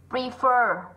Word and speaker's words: prefer: Prefer là âm ơ dài. Better là âm ơ ngắn. Bởi vì trọng âm nó rơi vào bét cho nên cái âm ơ này yếu này. Thế còn prefer trọng âm rơi vào chính nó cho nên nó sẽ là âm mạnh.